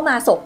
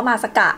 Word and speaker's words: māsaka: Từ "māsaka" này, Viện hàn lâm Hoàng gia Thái Lan nói là đọc là "masok", nhưng thực ra tiếng Pali đọc là "māsaka".